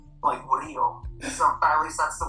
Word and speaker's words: Murillo: Rio. So at least that's the way that I'm like to pronounce whenever I'm with family or in Mexico or whenever I'm with my grandparents.